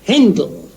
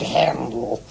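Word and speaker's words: Händel: With an umlaut, Handel. But on your invitation... Oh, the dear English. Spell my name Handel and pronounce it Handel.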